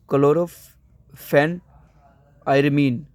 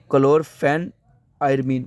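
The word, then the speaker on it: chlorpheniramine: वन क्लोर फिना मन मैटेट क्लोर phenol मन क्लोरो फेन आयर मन मीन क्लोर फेन क्लोर फेन आयर मन मैं इसको रिपीट इसलिए बोल रहा हूं ताकि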